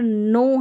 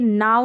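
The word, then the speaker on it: know: रख सकते हैं कि के और एन जब कंबाइन साथ में मिलकर आ जाते हैं तो के वहां पर एन से पहले जो के रहता है वो साइलेंट रहता है उसका उच्चारण नहीं किया जाता तो इसको आप नो पढ़ेंगे नाउ नहीं पढ़ेंगे अगर के एन ओ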